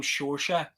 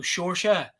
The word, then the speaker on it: Seoirse: So I have spelt it phonetically. They probably try a lot of different things, huh? Yeah, exactly. So I've literally spelt it phonetically, sure, sha.